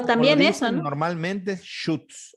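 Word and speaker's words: Schütz: Normalmente es Schutz, o sea, como shoot, como shot, pero shoot.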